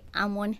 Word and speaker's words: almond: you are pronouncing like this word you don't pronounce the L and the D they are silent so you say I'm one hair oh my gosh guys did you know